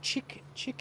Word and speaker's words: chic: People were coming up to me like, oh, you're the chick in Zurich? No, it's Chic in Zurich.